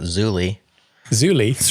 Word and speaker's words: Zulip: do you pronounce it zulip zul Prett much that's how we pronounce it great Adam pronounces it Zuli Zuli right like hulie he thinks they should drop the P like hulie exactly see